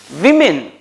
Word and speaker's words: women: Woman, women, but this is women, not women, right? We always tend to pronounce like it is men.